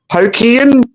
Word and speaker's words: Hokkien: I love udon noodles, and the other one, the yellowy one's hokkoi or something. Clog. The other soft noodle, Hokkien. Hokkien. It's spelled Hokkien.